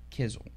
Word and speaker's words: Heather Quisel: honor of speaking with Heather Kissel Connor rhymes with drizzle and she is an